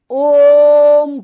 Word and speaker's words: ओम: ये राम पढ़ा जाएगा ये ओम नहीं पढ़ा जाएगा ये ओम पढ़ा जाएगा और जितने भी महात्मा योग आचार्य हैं वो ओम का उच्चारण ओम नहीं करते ओम तो आपने यू से तीन गुना ज्यादा समय ओ से सॉरी ओ से डेड गुना ज्यादा समय क्योंकि ये दीर्घावन है और